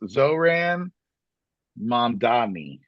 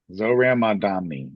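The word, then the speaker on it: Zohran Mamdani: But his name is pronounced Zoran Mandami. Zoran Mandami.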